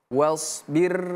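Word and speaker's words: واصبر: Perhatikan huruf shad. Huruf shad bukan huruf sho, bukan huruf sa ya. Ini berbeda sho, si su as us. Ya, sh bukan sa si su as is us tapi sh was was was was was dia tebal huruf shad itu huruf tebal sh si si su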